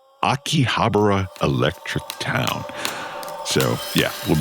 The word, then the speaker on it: Akihabara: rise and fall and maybe rise again of pronounce it for me again. Akihabra. Akihabara electric town.